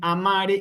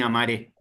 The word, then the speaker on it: amare: cuando aparezcan estas palabras yo voy a decir amare y cantare. ¿Me explico? No voy a decir cantaré ni amaré.